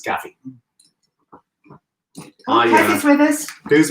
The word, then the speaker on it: Gavi: Depending on where you're from and how you like to say it. Italian Gavi. We are told it's Gavi.